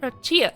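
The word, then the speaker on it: Roya: cute he's a ro roia roia is how it's pronounced okay this is perro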